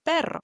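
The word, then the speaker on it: perro: Number three, the double r sound is going to sound like for example the word pero which means doc.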